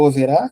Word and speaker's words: Owerá: bom a a música do overá que se escreve o w e r a tem em todo lugar